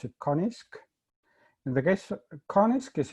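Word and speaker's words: QA-NIZK: called quasi-adaptive non-interactive zero knowledge or as i pronounce it konisk in the case konisk is essentially a kind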